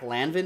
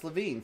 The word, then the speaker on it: LaVine: Zach Lanvin, maybe? Zach Lavin? No, it's LaVine.